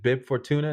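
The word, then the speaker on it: Bib Fortuna: uh did you know that was is it bib for tuna is that how you pronounce his name yes from the hut yeah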